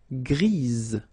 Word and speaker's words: grise: for the feminine form, grise. Remember? Grise. Alright? So when you add this E, basically it gives you the pronunciation or the possibility to pronounce the previous letter here. It's Z. Grise.